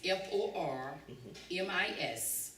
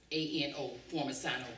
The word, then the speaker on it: Formisano: okay, now you need to spell that name. My name is Formisano, Formisano.